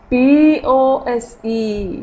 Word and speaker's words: pose: Pronounce it. Read it. Dose. Wow. D-O-S-E. Dose. H-O-S-E. Hose. And the third one is P-O-S-E.